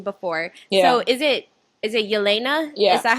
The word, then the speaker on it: Yelena: So is it Yelena?